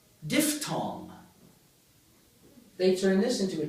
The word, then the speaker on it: diphthong: mini spiel about I and ow, how I pronounce this word? You noticed. I said diphthong. Of course, what should I have said, being a good, Greek? Diphthong. Diphthong.